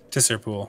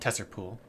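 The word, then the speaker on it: Tser Pool: I learned that we should go talk to a Madame Eva over on Tracer Pool. Terrace Pool? How do you pronounce that? Tesser Pool. Tesser Pool.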